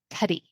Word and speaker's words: Tedy: are talking with Tedy did I say that right Tedy yes you did Rhymes all right with rhymes with nutty excellent Teddy